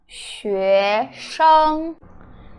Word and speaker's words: 学生: Alright, it is pronounced 学生, 学生. The first word is XUE, so the X is she sound, and the UE is 约, so it's hard to pronounce 西约学. SHENG is 师恩生, 学生 student or students, 学生 student.